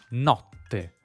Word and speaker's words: notte: Da “nocte(m)” per esempio abbiamo NOTTE. La /t/ assimila /k/. Not-te.